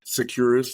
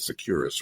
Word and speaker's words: Securus: Securus, like secure us.